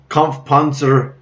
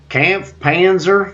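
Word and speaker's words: Kampfpanzer: stage 100 of the season so time for conf Panzer funcig Tay that's how you say it in German or Camp Panzer 50t depending on which language floats your boat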